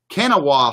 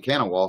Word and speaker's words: Kanawha: Alpha Dogs here, KCDC, Kanawha City Dog Company here, I hope I pronounced that, I like that name, Kanawha, sounds Indian.